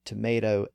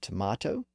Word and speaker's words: tomato: So does that process explain the differing pronunciations of tomato and tomato?